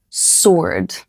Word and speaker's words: sword: Okay, number 8, sword. This one is fun. The W is silent, just like to or answer.